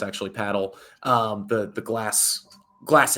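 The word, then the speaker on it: padel: ball, paddle, um, which a lot of people pronounce pedel. It's actually paddle.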